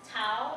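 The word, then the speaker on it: Thao: It's Tao in English, but in Hmong it's To. So it's a tone difference.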